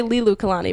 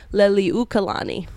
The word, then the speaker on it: Liliuokalani: to say it doesn't I always forget like one syllable I always say Li Lu Kalani but it's Lily Kalani there it is it's like an extra syllable that I don't remember anyway so bad news